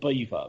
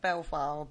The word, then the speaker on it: Belvoir: something wasn't it yeah they're known as the witches of belfast bow beaver okay i'm going to call it belfast i'm sorry i can't know her myself to call it beaver castle and they're known as